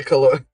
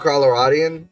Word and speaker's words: Coloradan: Yeah, you speak of marijuana in the Coloradan. Is that how you pronounce it? Coloradan? Or Coloradian? Or Coloradan? How do you say that, man? Coloradan? It's like Colorado, so Coloradan, I think.